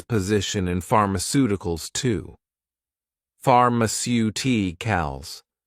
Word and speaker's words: pharmaceuticals: You may realize that for words ending in icle, the stress normally falls on the syllable before I call i.e. the third to last syllable in the word.